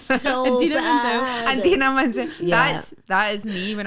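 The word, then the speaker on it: Idina Menzel: Adina Menzel. Yeah. That is me when I'm John Travolta. That's me when I'm hosting.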